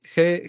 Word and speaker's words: Heidegger: Aquí parece que han cambiado un poco el texto, pero bueno, Lo que entendí de Martín, ¿cómo se pronuncia? Es Heidegger.